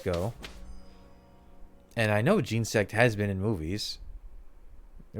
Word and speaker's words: Genesect: I pronounce it Genesect because I think of like gene and insect. It seems to roll off, but I've seen people pronounce it as Genesect, as in genetic, which also makes sense.